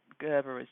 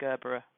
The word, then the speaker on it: gerbera: tell me after saying gerbera because it's it's a dutch word and then she'll make me try and pronounce it's like herbal or something i can't say it